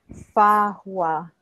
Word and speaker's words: Fahua: Okay, so she says this is like hard for us to pronounce, but it's Fahua. So the way she spells it in our human language is F-A-H-U-A, Fahua.